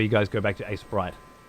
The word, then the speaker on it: Aseprite: what does that mean I always hear it pronounced Ace Sprite Ace Sprite Ace Ace